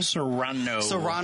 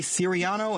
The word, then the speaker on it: Serrano: the last name again Sano Sano I keep W to say Serano and that is not right and and and even Serrano is not right you're supposed to roll the RS but I I know